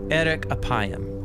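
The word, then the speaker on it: ארך אפים: in Hebrew the phrase slow to anger is pronounced Eric aayam or literally long of nose but what does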